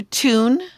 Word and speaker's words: tune: Okay, so you still have to do tune and you still have to do mute. This one is tune. What is it? Tune, right? Rhymes with dune.